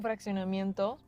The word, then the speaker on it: fraccionamiento: It looks like fraction, doesn't it? Right. It sounds like it.